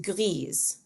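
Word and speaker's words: grise: pronounced the same way the masculine form is pronounced gri with a silent s and the feminine form is pronounced griez with a pronounced s and the plural is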